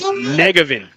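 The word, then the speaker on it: Njegovan: And Elizabeth with thanks here on the pronouncer as just a couple of local guys here, but it's Negevin.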